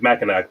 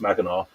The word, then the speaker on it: Mackinac: which looks like it's spelled out looks like Mackinac, but it's pronounced Mackinac.